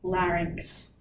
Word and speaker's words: larynx: So, larynx. It is pronounced larynx.